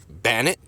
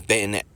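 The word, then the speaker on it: Banette: Swablu, Mega Swablu, and Bannet. Is that how you pronounce his name? Bannet? Bayonet. Its name is Bayonet.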